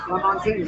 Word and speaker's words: Lamontagne: I think Lamontagne? Oh, like Cat LaFontaine. Yeah, Ryan's with LaFontaine. Okay, Lamontagne, I like that. Nice. Okay. Like champagne, I got it.